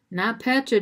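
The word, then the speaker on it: NotPetya: food company headquartered in chicago was hit hard not petra disrupted not p-e-t-y-a is how it's spelled disrupted email logistics caused 100 million in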